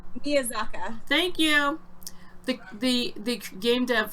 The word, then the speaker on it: Miyazaki: Miyazaka.